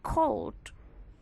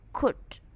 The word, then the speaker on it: could: Then after academic, I found some of you pronounce cold. That's wrong. It should be could, should, would, not would, should, cold, no, but could, should, would. You don't need to pronounce L, nggak perlu mengucapkan L, just should, could, would. That's pronouncing could.